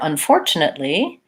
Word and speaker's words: unfortunately: like ah congratulations for unfortunately second syllable stress so short long short short unfortunately three syllables there